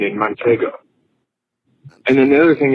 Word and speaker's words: Manchego: You know what's so funny is you were saying it wrong. Manchego. A manchingo. No second N.